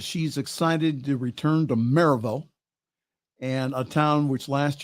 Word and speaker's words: Maryville: Saturday now it's not Maryville. Okay, that's not how the locals pronounce it. It's Maryville. Maryville, if you pronounce it quickly, Maryville.